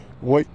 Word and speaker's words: Wight: check this out yes welcome to Emerson White Park and it's spelled w g HT all right in Marble